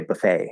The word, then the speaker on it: buffet: which uh there's a there's no t there right and i don't know the exact way that's pronounced in french in french but the tea is silent in french i assume um and so we say buffet like it's not a stop t it's just it's spelled